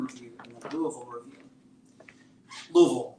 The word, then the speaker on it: Louisville: Louisville, it's 2 syllables, by the way.